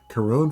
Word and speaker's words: Chiron: I think Chiron is pronounced with a K. Coron for the Greek name of the mythological uh be um being involved.